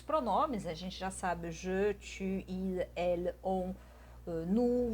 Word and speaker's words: je: Porque o je, eu, né, você pronuncia com um E fechado.